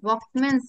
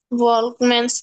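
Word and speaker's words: Volkmann: ওগুলাকে বলা হয় ভকম্যানস ক্যানেল। কি বলা হয়? ভলকম্যানস ক্যানেল। ভলকম্যান না, ভকম্যান। এলটা উচ্চারণ হয় না, ঠিক আছে?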